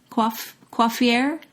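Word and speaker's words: coiffures: never heard this um it's c-o-i-f-f-u-r-e-s quaffer quaffier quaffier quaffier quaffier i think is how you say it that's just uh your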